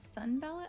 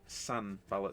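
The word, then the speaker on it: Sanbalet: you spell his name sun ballot i've got like s-u-n-b-a-l-l-o-t oh sorry it's um sun bala so s-a-n i think i must have mispronounced it essay and where are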